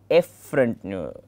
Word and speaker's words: efferent: These two, the pronunciation of both are somewhat confusing. One is afferent, the other one is efferent.